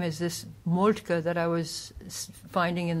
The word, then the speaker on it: Moltke: m o l t k e and it's pronounced molka okay regular Americans would pronounce it molka molki